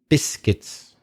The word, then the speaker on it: biscuits: of the word biscuits the U is not pronounced biscuits and also the word